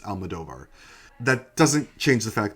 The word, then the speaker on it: Almodóvar: though I have always known that it is pronounced Almadovar.